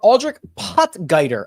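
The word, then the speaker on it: Aldrich Potgieter: a deep dive on aldri potger I believe is how he pronounces it I don't know if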